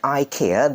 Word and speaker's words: IKEA: brand two waysa Ika if you pronounce like Ikea that is that will more more that will be more like American style but e that will